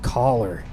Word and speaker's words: Choler: It's pronounced collar, but uh you can